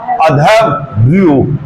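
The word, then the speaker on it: अध्वर्यु: लेकिन यजुर्वेद में मंत्रों का उच्चारण करने वाला अधवर्यु। अधव, ये जो रया ऊपर लगा है ये व्या के बाद बोलेगा, अधवर्यु।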